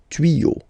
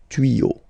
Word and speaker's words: tuyaux: Okay, des tuyaux. Same rule, you don't pronounce it. Des tuyaux.